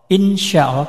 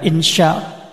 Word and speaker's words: insyaallah: Insyaallah bukan insya bukan insya insyaallah insyaallah. Ini seperti anu apa? lidahnya menekuk ya insyaallah.